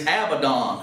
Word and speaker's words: Abaddon: pit whose name of the Hebrew tongue is Abaddon and that's spelled a b-a-d-d-o-n but in the Greek tongue